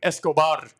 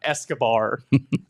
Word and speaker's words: Escobar: Or Eduardo Escobar was another one. Escobar, not Escobar.